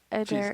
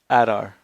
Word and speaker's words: Adar: Adair Jeez, I don't is. know. I have a lot of notes. I can never say it right. Adon, Who? Adair, whatever, the father of the orcs. Adar.